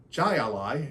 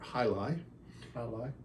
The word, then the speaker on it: Jai Alai: check this out and he pronounced it J Ali and I said it's actually named after sport hii hi by the way just